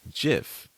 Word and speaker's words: GIF: And is it GIF? So here's the crazy story about that. And what's the difference the between that and creator memes? came out and said it's pronounced Jif, like the peanut butter.